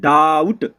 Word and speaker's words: doubt: जब किसी वर्ड में OU आए तो OU को आउ से पढ़ते हैं।